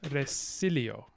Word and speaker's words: resilio: salio to leap but to LEAP back you think would be re salio but actually it's resilio so you get neutralization of vowel qualities in these non-initial syllables and that would make a lot of sense if they were unstressed but actually in classical Latin resilio this is stress so it's very strange